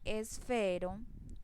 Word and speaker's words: esfero: Si yo digo esfero, la mayor intensidad en la fuerza de voz la hago en la sílaba fe.